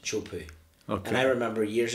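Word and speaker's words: Teahupo'o: of the word a little island and it's pronounced chupu okay and I remember years ago gone have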